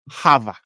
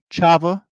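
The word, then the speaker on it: חוה: you guys all right first word is this Hava right is how you would think that would be pronounced okay I need to do a the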